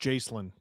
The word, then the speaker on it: Jacqueline: Jacqueline, which Jesse always insists is pronounced Jacelyn, the way that you spell it.